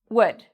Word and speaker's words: would: I hear many students say would, and they make that round lip. For this word, no round lip, it's spread, and we say it fast. Would.